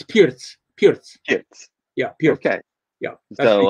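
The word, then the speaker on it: Pirc: hi mom um it's how do you pronounce p-i-r-c pierce pierce yeah vasia vasia pierce because i would when i was just reading it i said perk right oh yeah yeah that's what i heard when i was playing year when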